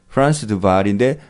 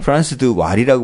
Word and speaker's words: Frans de Waal: 테드 동영상에서 프란스 드발인데 발이 WAAL입니다. 네. 그래서 왈이라고 되어 있는 책도 있어요. 이 책 말고 이제 옛날에 번역했던 책은 프란스 드 왈이라고 번역했는데 거기 뭐 독일 그쪽으로 가면 W가 이제 V 발음 나는 데도 있고 F 발음 나는 데도 있고 뭐 그렇잖아요. 네네. 그죠? 근데 이 프란스 드 발이고요.